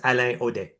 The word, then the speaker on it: Alain Audet: So it's Alain Audet. So people would say L-A-O-D, which is, I'm fine with it, but it's Alain Audet.